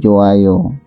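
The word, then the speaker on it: 좋아요: Karena di sini hiya tuh bertemu diikuti vokal ya, ini vokal nih, vokal apapun, maka hanya itu tidak berbunyi, jadi joayo ya.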